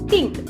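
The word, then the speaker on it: 听: Okay, this is this letter, Ting.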